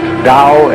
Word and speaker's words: Tao: called the Dao Pao pronounced Dao in the Mandarin dialect Tao in the changhai